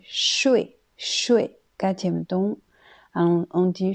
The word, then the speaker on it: 说: Ensuite, le mot 说, 说, quand c'est cette prononciation, c'est un verbe qui veut dire parler. Exemple, 这个学生可以说 6 种语言。这个学生可以说 6 种语言。 Ça veut dire cet élève peut parler 6 langues. Ensuite, la 2e prononciation, c'est 睡, 睡, 4e ton.